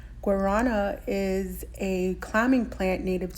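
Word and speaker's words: guarana: skincare products as well you say it like this Guana Guana is a climbing plant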